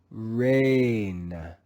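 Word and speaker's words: reign: Let's read this word together, reading the G as silent G in the digraph GN. Rain, rain, rain. Again, the G is silent.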